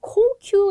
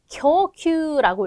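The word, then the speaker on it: 供給: 공급인데 이거를 공자가 들어가니까 막 공원할 때 고행 생각하셔가지고 막 코큐 이거 고르는 사람 되게 많이 봤거든요. 아니죠. 자, 뭘까요? 교큐라고 읽게 돼요. 교큐 공급은 교큐죠.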